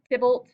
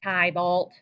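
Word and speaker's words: Tybalt: in this play is tibbled that's how you pronounce it tibblet it's not ty vault but tibble is juliette's cousin he becomes a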